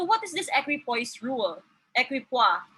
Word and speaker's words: equipoise: this thing we call equipose rule so what is this equipoise rule equipoise rather as my classmate mentioned the incorrect term of pronouncing it so it's evidence of